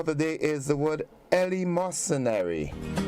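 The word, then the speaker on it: eleemosynary: other word for the day is the word Ellie mercenary Ellie mercenary it is spelled e-l-w-e-m-o-s-y-n-a-r-y it is an adjective and it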